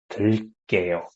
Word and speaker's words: 들게요: So you just add 게요 and pronounce it like what? 게요, right? So 들게요.